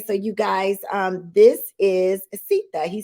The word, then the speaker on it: Seetha: Mama Seetha, right? Like Seetha. Mamacita, you got That's it.